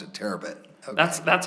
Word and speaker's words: Terabit: how you pronounce it terabit okay that's that's how I would pronounce it uh almost like a terabyte but not quite um he came to